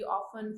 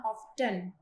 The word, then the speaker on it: often: ऐसे भी करते हैं, ऑफ्टन, टी बोल के, मीन्स ऑफ्टन। तो देखिए गलत वो भी नहीं है, और अगर आप ये बोलते हो ऑफन, वो तो बिल्कुल ही गलत नहीं है।